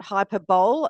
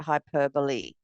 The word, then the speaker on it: hyperbole: Yes, not hyperbole, as some people say, but hyperbole. But it's spelt hyperbole.